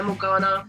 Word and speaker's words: Morgana: Now, I did pronounce the band name properly, right? Yeah, Morgana, basically.